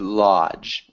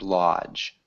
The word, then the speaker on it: lodge: the large large lush good lodge it has a d sound lodge okay good and then